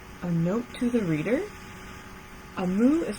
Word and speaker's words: Omu: Amu is pronounced Amu, is the Igbo term for queen in another language.